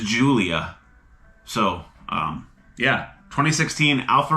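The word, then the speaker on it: Giulia: U L I A the pronunciation is Julia. So um yeah 2016 Alpha Romeo Julia. I was like guulia Gulia.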